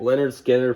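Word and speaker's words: Lynyrd Skynyrd: all right Leonard Skinner pronounced Leonard Skynyrd this is a double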